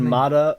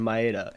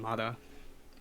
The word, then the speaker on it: Maeda: You said Mata, Maeda, and Maeda. His name is Maeda, dude. Maeda? Hey, I'm glad you're paying attention, dude. It's spelled Maeda, but I think the MC calls him Mata.